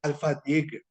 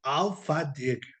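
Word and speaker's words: alfândega: En portugués se dice alfadega, así, alfadega, alfadega.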